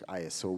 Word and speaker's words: ISO: standardization iOS um ISO well I think it's ISO we we pronounce it here I'm working group one